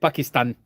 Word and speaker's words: Pakistan: See how I said it, like with the proper pronunciation. I said it like Obama used to say it. Pakistan.